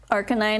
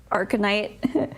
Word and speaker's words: Arcanine: monetized on YouTube first Arcanine not arcanite i b i butchered